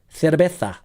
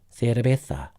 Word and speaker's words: cerveza: Spanish has it. Cerveza. La C, as they say in Spain. La C. Cerveza.